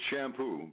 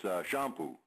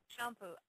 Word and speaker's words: Champoux: Americanized, it's Champoux, but up in Quebec, it's Champoux. So, very subtle difference. It's like champagne or something. You got to use that champ there in order to be properly pronounced.